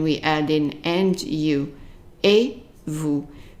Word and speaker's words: et: And then we add in and you, et vous. The et at the end of a word or on its own always pronounces an A.